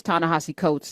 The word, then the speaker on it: Ta-Nehisi Coates: Tanahasi Coats is here and that's how you pronounce his name.